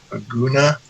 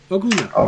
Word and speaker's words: Oguna: Aguna? Did I pronounce that correctly? Did I? No. Oguna, yes.